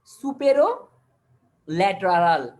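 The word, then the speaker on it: superolateral: আমরা কিভাবে উচ্চারণ করবো আমরা আগেই বলেছিলাম সুপেরিয়র এন্ড ল্যাটারাল একসঙ্গে উচ্চারণ সুপেরিও ল্যাটারাল কি বলবো তাহলে এটাকে আমরা সুপেরো ল্যাটারাল তাহলে এভাবে করে আমরা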